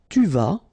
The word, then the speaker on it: tu vas: Tu vas, final S not pronounced.